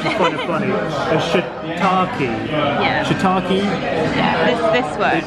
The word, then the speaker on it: shiitake: Say, please don't order a shit-taped donburi.